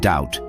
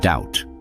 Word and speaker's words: doubt: Words like debt and doubt used to be debt and doubt. But some geniuses thought, "Hey, let's show off our Latin knowledge and decided to throw in silent be to make them look more like their root Latin word debitum, which means something owed."